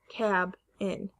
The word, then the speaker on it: cabin: was broken up here it would be k bin or cab in cabin the two syllables are cab in so it is an